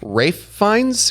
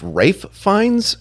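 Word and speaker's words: Ralph Fiennes: It's pronounced Rafe Fines. It's pronounced Rafe Fines. That's it. Not Ralph.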